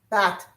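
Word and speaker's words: בת: Bath. B A T like bath.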